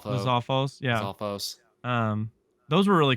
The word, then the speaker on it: Lizalfos: How do you pronounce that? Lizalfo. Lizalfos.